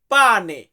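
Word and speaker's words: pane: রুটি খাই এই রুটি এটাকে আমরা ইতালিতে বলি পানে ইতালিয়ান শব্দ পানে মানে হচ্ছে রুটি আমরা ইংরেজিতে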